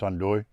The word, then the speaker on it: andouille: this sausage called andouille it's spelled on delay i guess i don't know a little pronunciation but in french it's hondui um this is basically